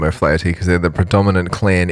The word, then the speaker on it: O'Flaherty: It's pronounced O'Flaherty. There you go. Is how it's pronounced. Really, really close. So he was the heir to the chief of the clan O'Flaherty.